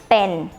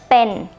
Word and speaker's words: เป็น: But it's a mixture between B and P. When you speak the word pa, it should sound like this. Okay? So pen, pen.